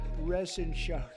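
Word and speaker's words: Reschenthaler: thank you and Guy Ren shaer you know that Ren Sher he's uh that's actually the way you pronounce it you know nobody else gets it right I got it right but it's a it's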